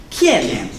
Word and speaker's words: Quién: Quién. Quién. Quién. Not qua, quis, quién.